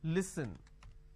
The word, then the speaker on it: listen: for example listen now the listen word pronounce pronounced as Le e so let me add a dash after that so that it's easier for you to understand OK it's pronounced that Lee sir no listen they replace